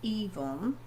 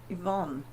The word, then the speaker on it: Yvonne: It's not Yvonne. It's Yvonne. Yvonne.